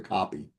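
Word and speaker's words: kopje: They are called coke beads, pronounced pretty close to copy.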